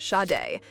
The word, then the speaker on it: Sade: Yes, it's pronounced shade.